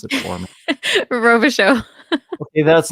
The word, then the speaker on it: Robichaud: Can you pronounce it for me? Robichaud.